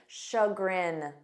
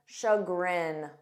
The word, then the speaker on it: chagrin: cancelled much to my shagrin repeat after me shagrin shagrin this means to one's disappointment or regret you